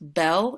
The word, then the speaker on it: bel: special case the bow form special case is pronounced Belle and is pron is spelled Bel Nuvo is